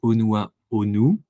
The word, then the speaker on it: Honua Honu: Alain, tu es le fondateur du projet Onua Onu, si je le prononce bien.